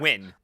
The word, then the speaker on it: Nguyen: spell that, please? Win.